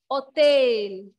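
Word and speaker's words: hôtel: Another example is hotel. Hotel. Here, H will be silent.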